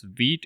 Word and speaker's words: Vite: So you can see this is pronounced as Vite.